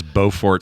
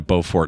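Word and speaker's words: Beaufort: before I moved and there's a city that's even stranger in rules of pronunciation. Be now I would say looking at that as Bowfort because I think of Bo. Yeah. Uh anyway, versus Bowfort, South Carolina, Bofort, North Carolina.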